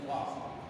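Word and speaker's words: ص: Ya ini shad. Ya, kalau tertulis sudah huruf Latin itu bacanya shad.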